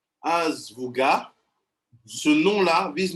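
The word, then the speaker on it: אזבוגה: Ça se prononce comme je dis, Azvuga.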